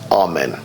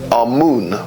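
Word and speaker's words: Amun: deities was our men now our men is the pronunciation that the Hebrews give it and some scholars agree to use that pronunciation our moon is the pronunciation given to it by one of the old European scholars Plutarch and the language of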